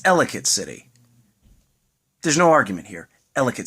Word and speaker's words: Ellicott City: Number 4 place to visit in Maryland is, now, non-Marylanders will pronounce it at first Ellicott City. It's Ellicott City.